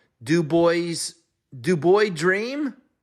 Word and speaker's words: DuBois: Virginia played something called do boys do boy dream I think the S is silent in the first round